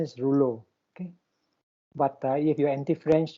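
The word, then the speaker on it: rouleaux: this is uh lulu it comes from that french word so it's pronounced rouleu okay but the product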